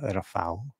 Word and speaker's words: Rafał: Okay, so the UH, we also have that weird Polish L, so I know it's pronounced as a W sound now. Thank you. Rafał.